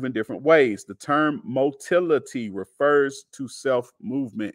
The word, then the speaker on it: motility: The term motility refers to self-movement. It rhymes with mobility.